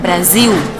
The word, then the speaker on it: Brasil: O por ejemplo, la L final se pronuncia U. Entonces si algún día escucharon algún partido de fútbol en portugués, dicen Brasil.